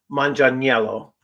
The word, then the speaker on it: Manganiello: uh in in um in Italian it would be uh Manan Yello um so that would be the more Italian pronunciation I don't know if